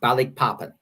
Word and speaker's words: Balikpapan: So in this case, the Japanese were landing at a place called, I believe it's pronounced Balikpapan.